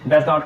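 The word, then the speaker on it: doesn't: नट को क्या डोंट डज नॉट को डजन अब देखिए लिखने में खाली ओ साइलेंट हो रहा है पढ़ने में ओ और टी दोनों साइलेंट कर देते हैं हम लोग ठीक है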